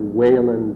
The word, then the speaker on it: Whelan: By the way, I'm going to pronounce his name Edward Whalen because all of the Whalens and PEI that I know from New Zealand and whatnot are Whalens.